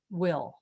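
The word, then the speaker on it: bhfuil: you an example here b h f u i l is pronounced will makes all the sense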